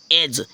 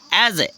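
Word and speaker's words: edge: जैसे फ्रेंड्स देखते हैं जैसे एज एज में ई डी जी ई है एज एज मीन जानते हो क्या होता है एज मींस किनारा होता है तो यहां पर डी साइलेंट हो गया है पढ़ा जाएगा एज ई से होता है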